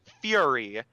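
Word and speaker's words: Furi: don't play it yet and the game is fury which is spelled F URI and it's really cool I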